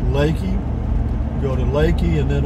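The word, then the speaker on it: Leakey: and then over to it's spelled l-e-a-k-e-y like leaky but it's pronounced lakey go to lakey and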